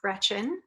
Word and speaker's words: Greczyn: So my name is Alice Greczyn. It's pronounced just like the girl's first name, even though it's spelled with a CZ in there.